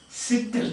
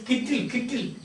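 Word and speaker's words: cytel: Sittle, C-Y-T-E-L. Sittle means kettle. So you can pronounce it as sittle or sometimes kittle. Because C is pronounced as a K.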